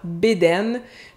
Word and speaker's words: bedaine: La bedaine, au Québec, on prononce souvent bedaine. Puis si je dis que mon oncle se promène en bédaine sur le terrain, ça